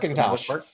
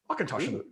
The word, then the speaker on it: Auchentoshan: Auchentoshan means corner of the field in Gaelic, and you put the accent on the second syllable to speak in Gaelic. Auchentoshan. Auchentoshan.